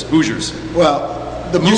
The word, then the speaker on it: Hoosiers: And I love how Jonesy actually pronounces it correctly, and unlike most of us, it just says Hoosiers.